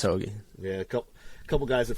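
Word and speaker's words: Højgaard: Yeah, I mean, you got Fleetwood and Hogue or Hoagie. I can never pronounce whatever his name. They have both those guys at 6. Yeah, it's Hoagie.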